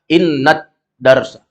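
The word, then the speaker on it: إنّ الدرسَ: sudah seperti itu ya jadi membacanya Jangan Inna addarsa langsung dibaca innat Darsa Pah Ya ini alif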